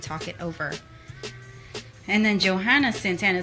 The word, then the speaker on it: Johanna: And then Johanna Santana says, Johanna. I don't know that. Johanna. Johanna. No Hannah. No. It's a silent H. If you pronounce the H, she will Joanna. stab you.